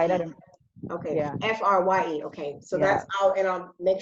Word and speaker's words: Frye: Oh, Frye. Oh, okay. Yeah, like the boots. I think you might have said it right. I don't. Okay. Yeah. Frye.